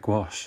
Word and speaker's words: gouache: used in the way that white in a gouache set would be um oh my god i said gouache not gouache i know a bunch of people